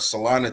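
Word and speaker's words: Celina: Bentley coming out of salana Texas um and yes it is salana even though it is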